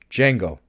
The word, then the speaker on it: Django: Django. You know how to spell it? The D is silent.